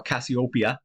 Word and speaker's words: Cassiopeia: We also have the constellation of Cassiopeia up here, or Cassiopeia, as some people pronounce it.